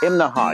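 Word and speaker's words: Imnaha: this morning we're in imaha now that's three syllables imaha you have to say it that way or people in town will laugh at you right behind me that's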